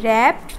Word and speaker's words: wrapped: Shopkeeper ওই rubber বলটা যেটা তুমি দোকান থেকে কিনেছো, তিনি কি করলেন, রাবার বলটা একটা ছোট্ট বক্সের মধ্যে রাখলেন অ্যান্ড র্যাপড, উচ্চারণটা দেখো WRAPPED, র্যাপড দ্য box with colourful paper.